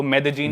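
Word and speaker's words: Medellín: एक सिटी है मेदजीन स्पेलिंग में उसमें डबल एल आता है मेदलीन होता है लेकिन कोलंबियन स्पैनिश में ल को ज बोलते हैं तो मेदजीन वो शायद उसकी मेन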